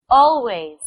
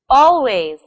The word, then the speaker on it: always: Where do you think the stress is? On the first or the second syllable? The stress is on the first syllable. Listen and repeat after me. Always. Always. Remember to say the stressed syllable longer, louder, or with a higher pitch.